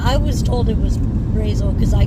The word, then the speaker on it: Brazil: Okay, we're 17 miles from Brazil, which in Indiana is pronounced Brazil. Really? Mm, I was saying Brazil.